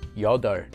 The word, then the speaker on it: 여덟: A very common exception to this rule is the word for 8, which is pronounced the opposite way as 여덟.